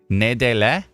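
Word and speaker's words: Nédélec: If you're in Nedelec, it's going to be Nedelec. You don't say the C? No, I did say the C.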